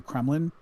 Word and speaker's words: Kremlin: Like escorted through the gates of the Kremlin. That sounds really bad, right? That doesn't sound like a pleasant thing. It rhymes with gremlin, which makes it extra scary.